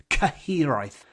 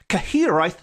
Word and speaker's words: Cyhyraeth: And this episode is dedicated to the spine-chilling spectre known as the Cyhyraeth. Cyhyraeth, which is spelt Cyhyraeth, Cyhyraeth, which is a Welsh death omen, a good old death omen that is heard rather than seen.